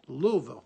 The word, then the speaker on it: Louisville: is that's real good because that's how it's pronounced all right let's that's it Louisville all right hi this is Leo's coast-to-coast you're